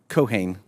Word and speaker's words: Keohane: Keohane, is that how your name is pronounced? Keohane.